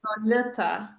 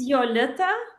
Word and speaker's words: Yol: People always wonder how I say my name. My name is Yol. What is it? It's Yol. Y, not J.